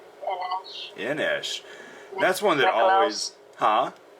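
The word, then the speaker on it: En Esch: Inesh. That's one that always... Huh? It's like Nick Schandelmeyer. That's like his full name, and Sasha suggested that he go by N-S, his initials, N-Esh.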